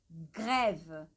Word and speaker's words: grève: Aqui nós temos grève. Temos um accent grave aqui. Grève, grève, grève, grève.